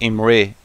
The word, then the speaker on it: Imre: I think it's more like Imre, like E.